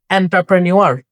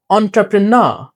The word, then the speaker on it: entrepreneur: এটাকে আমরা বলি এন্টারপ্রেনিউর, রাইট? বাট এটা হবে entrepreneur, entrepreneur. এনটা হয়ে যাবে entrepreneur এবং এনে গিয়ে একটা প্রেসার দিতে হবে entrepreneur, প্রেন্নার, রাইট? এবং শেষের আরটা হচ্ছে উচ্চারণ হবে না। ব্রিটিশ অ্যাকসেন্টে যদি শেষে আর থাকে তাহলে সেটা উচ্চারণ হয় না।